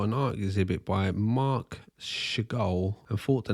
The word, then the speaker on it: Seagal: Apparently, Stephen's name is actually pronounced Seagal, like the bird, but changed it when he saw an art exhibit by Mark Seagal and thought the name sounded cool.